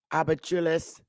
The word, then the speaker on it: habichuelas: Abachules coloradas.